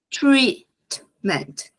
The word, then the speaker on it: treatment: Lembrando que a palavrinha treatment ela tem que bem som de i treatment não posso deixar esse som aberto como trat porque lembra muito uma outra palavra que é ameaça é uma ameaça então treat Desce essa